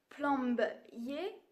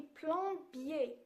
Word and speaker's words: plombier: billets plan biais attention on ne dit pas plombe y est on dit plombier plombier pas tissier pas